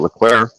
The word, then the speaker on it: Leclerc: You've got Sainz, you've got Leclerc.